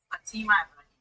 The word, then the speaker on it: Fatima Ibrahim: Bettina Ibrahimi. Did I pronounce that correctly? Bettina. Almost. Fatima Ibrahim.